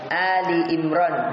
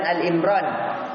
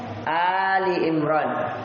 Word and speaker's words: Ali Imran: Albaqarah dan Ali Imran bukan Al Imran ya perhatikan ini cara bacanya kesalahan Al Imran salah Ali Ali itu artinya keluarga ahli jamaknya Ali artinya keluarga Imran ya Jadi bukan dibaca Al Imran salah tapi Ali Ali Imran artinya keluarga Imran dipanjangkan itu alifnya